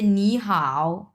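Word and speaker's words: 你好: Complete করে ফেলছি যে পাশাপাশি দুইটা যদি তিন নাম্বার টন থাকে তাহলে কিভাবে উচ্চারণ করব? স এটা হয়ে যাবে আপনার দুই নাম্বার টন উচ্চারণ হয়ে যাবে আর এটাকে আমরা যেটা আছে সেটা এটার কোন পরিবর্তন হবে না স এখানে আমরা উচ্চারণ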